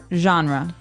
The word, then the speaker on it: genre: We say genre. Genre. Word genre. This kind of sounds French. Is it French? I think it comes from French. Uh it's a ge word. So genre. It's a soft soft sound.